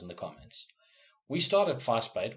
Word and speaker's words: Vasbyt: We started Vasbyt, which by the way is pronounced fuss, like making a fuss, and bait as in like fish bait. It's Afrikaans. I'm a South African boy. It's in my home language.